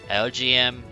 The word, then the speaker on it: Elgyem: I never like these names, but they actually have a cool origin because it's literally the letters LGM as in Little Green Monsters and BEM as in Bug-Eyed Monsters.